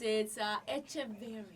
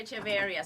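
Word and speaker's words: Echeverría: It's Echeverria. Echeverria. Hey! Today. Here in Thank America, you. they say Echeverria, so I'm okay with it.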